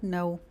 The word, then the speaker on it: know: Toda vez, pessoal, que vocês verem palavras que iniciam com K N, provavelmente o K vai ser mudo. Isso vai acontecer na palavra know, por exemplo.